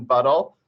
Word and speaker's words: Buttle: Yeah, in our category of trees, from all the book talks we've done over the years, we've done The Truth About Mason Buttle.